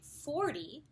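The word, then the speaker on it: forty: T sound very aspirated whereas when we say 40 or 30 the stress is on the first syllable and the T is actually softened a little bit and this way you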